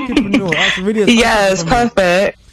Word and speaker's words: Kidpreneur: So before we go into the UK leg of your teachings, let's talk about it's hard for me to pronounce, the Kidpreneur Awards. Is that right? Kidpreneur.